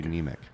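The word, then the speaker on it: Niemiec: You are a neemic.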